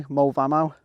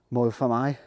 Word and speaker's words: Moel Famau: my or as English people would probably say Volvo but I think the correct pronunciation is closer to more than I and it's the offered that offers bike paths